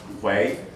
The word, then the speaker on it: Hui: will become known as, the word in English would be Hui, roughly pronounced Hui, are, after centuries, they will become indistinguishable from their Confucian or Buddhist Chinese brethren.